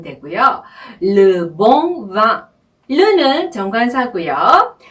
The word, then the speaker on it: bon: 몽도 마찬가지예요. 몽도 오 발음을 코로 내어주는 발음이죠. 네, 그래서 옹이 되는 거죠.